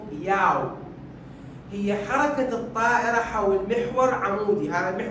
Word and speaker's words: yaw: الياء او بالعربي تلفظ ياو، هي حركة الطائرة حول محور عمودي، هذا المحور العمودي الوحيد الثابت، البقية حول محور افقي.